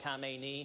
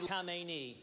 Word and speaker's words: Khamenei: One of my favorites was the awkward white guy Middle Eastern name pronunciations. This deal on its face will send over $100 billion to the Ayatollah Khamenei. The Ayatollah Khamenei.